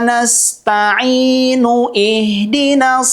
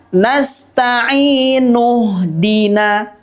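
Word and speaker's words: نستعين اهدنا: Iyyaka na'budu wa iyyaka nasta'inu ihdinas siratal mustaqim. Ingat, bunyinya tidak nasta'inu ihdina, tetapi bacanya adalah nasta'inu dina. Kenapa? Karena pada kalimat ihdina itu adalah huruf hamzah wasol.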